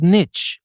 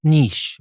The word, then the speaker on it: niche: word before it's called Niche and not Niche well actually it is pronounced both ways Niche is good Niche